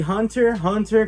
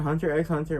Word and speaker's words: Hunter x Hunter: a little observant uh it is the hunter hunter collection hunter hunter not hunter x hunter well i mean i